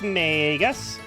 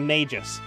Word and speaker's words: Magus: Magus instead of Magus. The problem with saying Magus is that's a noun and not a name. I always pronounce it Magus because that's how I heard it pronounced in Gargoyles.